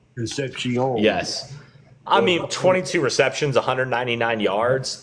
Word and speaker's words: Concepcion: It's pronounced Concepcion. Concepcion.